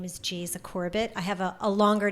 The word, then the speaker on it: Geisa: is from brazil and jesus which is that's how you say it in portuguese is brazilian laissez was